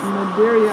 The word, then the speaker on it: Madeira: Maggie says, yes, you did say it right, Madeira.